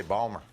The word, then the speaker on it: Baltimore: In Baltimore, they say Balmer. There's like no consonants.